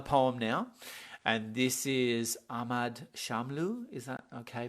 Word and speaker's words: Ahmad Shamlu: into uh another poem now and this is ahmad shamlu is that okay pronunciation absolutely thank you cool and um so